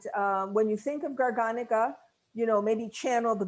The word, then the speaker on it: garganega: garganega i had to remind myself it's not gurganga today because i use greek pronunciation it's garganica it's a great variety that's you know look